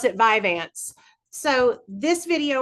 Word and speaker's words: Vyvanse: So, Vivance, known I pronounce it Vivance.